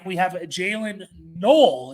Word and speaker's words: Noel: We have Jaylin Noel. It's not Noel. I believe I said Noel in a previous video. It's spelt like Noel, but I think it's pronounced Noel.